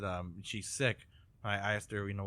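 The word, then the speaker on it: Sikh: then um there's a seek guy named uh who who call who says he's sick and not seek he says he's sick he pronounces It Sick instead of seek I think sometimes people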